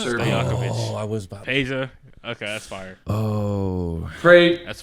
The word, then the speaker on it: Peja: Peja? Stojakovic. Oh, I was about Peja.